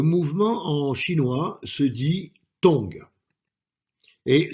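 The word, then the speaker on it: 動: Le mouvement en chinois se dit tong et s'écrit donc comme ça.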